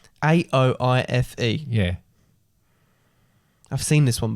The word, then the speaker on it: Aoife: A-O-I-F-E.